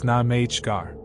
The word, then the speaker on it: Namagar: Local term Namagar pronounced Namgar.